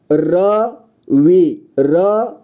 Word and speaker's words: रवि: ठीक है, र, और र को पूरी तरह से उच्चारण कर रहे हैं, यानी कि उसमें अ का साउंड भी आ रहा है। आप ध्यान से सुनिए, मैं बोल रहा हूँ रवि, वी, र के बाद